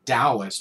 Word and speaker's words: Taoist: um is informed by eastern taoist and that that's spelled i know i say dallas but it's that's just the way it's pronounced